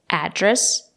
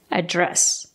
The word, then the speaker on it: address: address you can stress the first syllable address or you can stress the second syllable address both are correct what's